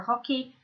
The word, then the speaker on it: hockey: Okay, remember they're not really pronouncing the H in French, for hockey, au snooker, for snooker, au volley, volleyball, and au golf, for golf.